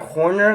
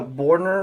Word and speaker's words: Horner: back in a minute it's actually Big Jack Horner not a bordner or whatever I was thinking either